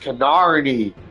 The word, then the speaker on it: Kinarni: pronounced Canarni with an R.